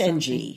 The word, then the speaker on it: Ng: It's NG.